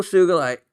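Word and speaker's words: sugilite: So anyway, uh she also some other common small tidbits I like saw the most beautiful sugulite rough remember hard G but was out of money by the time I saw it.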